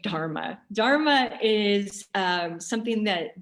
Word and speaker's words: dharma: everyone has a dharma dharma by the way is d-h-a-r-m-a that's why i'm hitting the h trying to hit the hus sounding at the dharma um doing my best